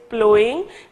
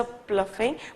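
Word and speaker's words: ploughing: तो प्लोइंग, please ये जो है करेक्शन करें इसको, this word is pronounce as प्लोइंग, ठीक है, जैसे कि in previous lecture I may have pronounced as अ प्लफिंग बट इट इज नॉट, इट इज प्लोइंग, ठीक है।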